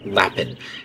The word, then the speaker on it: Lapin: I've been pronouncing it Lapin, and it's actually more like Lapin.